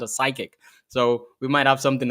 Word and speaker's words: CYQIQ: probably are looking at it as you know Cy qiq I did that the first time too but then uh Richard was gracious enough to kind of let me know hey it's pronounced as psychic so we might have something to talk about